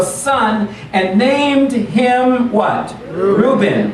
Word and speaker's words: Reuben: and named him what reuben ray ovan or sometimes just pronounced uh ruvain because she said for